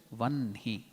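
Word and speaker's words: वह्नि: Likewise, here it will be written as Vahni, but pronouncing we have to do it as Vanhi.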